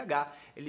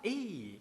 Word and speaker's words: he: inglês, que é he, quando Eminem pronuncia a palavra he, ele não fala esse H. Ele não fala he, ele faz o dropping, que é o apagamento do H, e ele fala: "Ei, ei, algum curso de